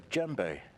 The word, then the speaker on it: djembe: a djembe. A what? A djembe. It's spelled spell funny it?